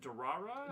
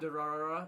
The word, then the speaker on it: Durarara: You ever seen I don't know how to pronounce it. Durara? Durarara, all Yeah.